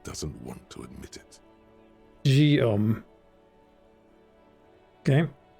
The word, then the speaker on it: Guillaume: Guillaume. Okay. Sounds like there should be a G, an O, and an M in that name, but yeah, sure, spelled like this, whatever, man. Guillaume.